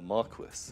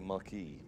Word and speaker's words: Marquess: people are just guessing oh it's roughly equal to a marquis Marquess a Marquess is how you say it tonight pretty not I thought it was like a month like said like Maki but fucking's I like